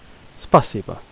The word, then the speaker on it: Спасибо: Спасибо, which is down here. Stress mark on the A.